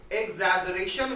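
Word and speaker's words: exaggeration: देखिए इस वर्ड का प्रोनाउंसिएशन ध्यान रखिएगा, पहले गा पढ़ेंगे फिर जा पढ़ेंगे, एग्जैजरेशन वर्ड को बोला जाएगा यहाँ पे।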